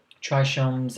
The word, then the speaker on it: trichome: defining characteristic known as trichomes. Trichomes, I don't think that's how you say it. I think it's trichomes.